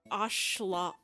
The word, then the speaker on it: axolotl: how to pronounce it everybody says it's axolotls but it's not oxalot it's like oshloots it's like a it's a it's a native word I just remember that the x is a sha sound I